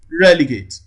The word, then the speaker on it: relegate: and d relegate relegate don't forget the rule i gave you the other time when the word ends with a t e you count three syllables from the from right from the right and then the third syllable receives the premises and that is why the prime minister is false here relegate relegate relegate so from the analysis